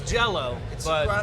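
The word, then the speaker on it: Jellÿ: whatever I can jell or jelly it's it's Jello pronounced Jello but the O have the over the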